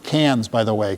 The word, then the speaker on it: Cairns: We are going up to, they pronounce it Cairns, by the way. Cairns, like the city in France, no R's.